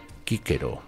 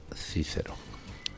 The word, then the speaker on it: Cicero: de lenda est PESOE que que diría Cicerón, que por cierto en latín se pronunciaba kquero, no cicero.